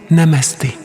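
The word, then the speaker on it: Namaste: Ça se prononce Namasté.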